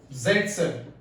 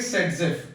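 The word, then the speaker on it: Zaitsev: रखिए था उसका अलेक्जेंडर ज़ेटसेव, है ना। इसको हम बेटा प्रोनाउंस करेंगे सेटजेफ। क्या प्रोनाउंस करेंगे, सेटजेफ, कम ऑन, विल प्रोनाउंस सेटजेफ, इसको हम बोलेंगे सेटजेफ।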